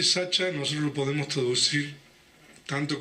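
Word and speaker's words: sacca: de la voz pali sachcha en la lengua pali la c se pronuncia como la ch Ah entonces el término p Sacha nosotros lo podemos Traducir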